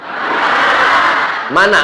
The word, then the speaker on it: Manna: kota Bengkulu Selatan nih Mana Man Saya bertanya karena saya tengok tulisannya Manna tapi cara membacanya mana Ah ini jadi macam-macam